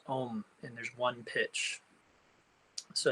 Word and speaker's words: Om: It has one syllable, which is Om, and there's one pitch.